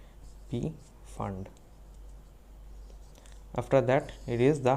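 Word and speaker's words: Pfund: is the is the fund series but it is called p fund p is silent p fund after that it is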